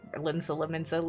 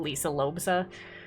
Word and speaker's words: Limsa Lominsa: Also, I like calling Limsa Lominsa, Lisa Lobsa, and all sorts of various things because I pronounce it wrong every single time.